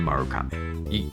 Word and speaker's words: Marugame: Marugame, or maybe you're pronouncing it Marugame. It's actually Marugame. You gotta roll the R.